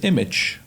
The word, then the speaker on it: Immich: One example for that is Image, which is spelled IMMICH.